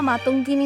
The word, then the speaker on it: মাতঙ্গিনী: সূত্রপাত ট্যাবলো ধারাভাষ্যে বীরাঙ্গ মাতঙ্গিনী হাজরার নাম মাতাঙ্গিনী বলে উচ্চারণ করেন সঞ্চালিকা।